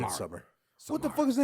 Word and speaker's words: Midsommar: It's not spelled like that. I know it's pronounced Midsommar. Midsummer.